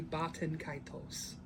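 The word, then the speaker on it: Baten Kaitos: Batten Kaitos? Baden Kaitos? Yeah, that one. Well, in Japanese, it would be Batten Kaitos.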